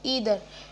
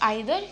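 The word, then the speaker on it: either: ईदर, नॉट आइदर, ईदर.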